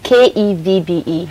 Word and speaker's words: Kevbe: Yeah, that's for some people, but mine is Kevbe.